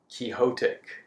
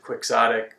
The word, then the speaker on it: quixotic: Brent during his interview used the word chotic which I have never heard it pronounce that way before I don't know if that's an acceptable pronunciation but I've always pronounced it quixotic which you know his pronunciation is a lot more natural and uh yeah that